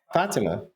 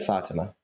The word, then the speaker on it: Fatima: And that friend is Fatima. Is that better? They said it that way. Why do you want to call her Fatima? I don't understand. That's not how you say it. Fatima.